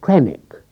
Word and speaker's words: Carwithennick: In this last parish he occupied the old country house of Carwithennick, pronounced Crannock, which was pulled down about 1900, an awful pity.